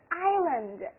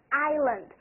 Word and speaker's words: island: It's not a forest, 这个可不是森林哈。We call it island, island. 千万不要把这个单词念成 island，那可就太漏气了哈。